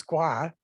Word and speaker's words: Ngwa: yeah basically it's it's ngwa but the n is mostly silent so i just say gua all the time and normally we would